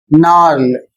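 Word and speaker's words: gnarl: अगला शब्द है जी एन ए आर एल। और इसे पढ़ा जाएगा नल। इसका अर्थ है पेड़ की गांठ। इन सभी में जो मुख्य कारण है वह है शब्द के शुरू में जी और एन। जी एन आता है जी साइलेंट हो जाएगा।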